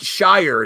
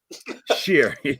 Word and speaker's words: shire: something Shyer and like we don't call it Shire it's not pronounced Shire but I sheer yeah yeah so this one here this is